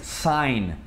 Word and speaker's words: sign: O G tem duas situações em que ele é mudo. O primeiro é quando tem um N depois, então simplesmente você ignora esse G, que é o caso de sign.